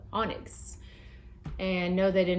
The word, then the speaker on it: Onyx: A true story, when I was younger, I used to pronounce this word, oinks.